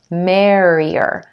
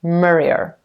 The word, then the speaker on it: merrier: the more the merrier for a lot of my students when you have that vowel sound in front of the ER like or or air the earth tends to swallow up that vowel standing in front of it so you end up with more or marie ER and if you want